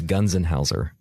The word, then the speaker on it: Gunzenhauser: Yeah, it's Gunzenhauser. Gunzenhauser. So if you break it up into 3 letters each, it's actually a lot easier.